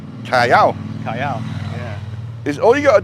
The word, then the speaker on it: Callao: Like Calio is Cayo. Callao.